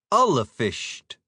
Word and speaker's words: Ullafisht: Ullafisht, because that I before the S means it's a slender vowel and turns the S into an SH sound. First syllable would rhyme with dull.